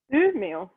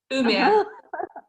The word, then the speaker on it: Umeå: Ellen, youth living in, how do you pronounce the name of the place? Sorry. Umeå. Umeå.